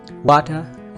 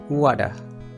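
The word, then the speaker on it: water: इसमें 2 किस्म की प्रोनाउंसिएशन मैं आपको बताता चलूँ। वो लोग जो अपने आप को हाई स्टैंडर्ड समझते हैं उनके लिए वाटर या फिर वाडा, एक तो डी की आवाज़, एक आर को रिमूव करने वाली आवाज़, वाडा या फिर वाटर।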